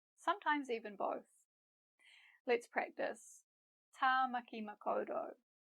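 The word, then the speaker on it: Tāmaki Makaurau: Tamaki Makaurau. Ta, ma, ki, ma, ko, ro.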